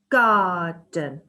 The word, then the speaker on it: garden: Garden. It's saying that the second syllable in garden is unstressed because it is quieter and doesn't need as much pronunciation. It's lighter. Garden. That means unstressed.